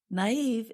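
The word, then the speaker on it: naïve: can be easily tricked naive is spelled n a i v e and we put two little dots above the letter i to show that we pronounce that vowel separately and gullible is spelled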